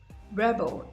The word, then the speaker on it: rebel: bell is the noun so you see how we place the stress on the first level of most two syllable words that are nouns and then we'll place the stress on the second syllable of two syllable words that are verbs he's a typical teenage